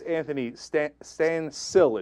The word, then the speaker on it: Anthony Stansill: All right, so that's Anthony Stansill, it turns out is how you pronounce his name, and he's going away for 15 years.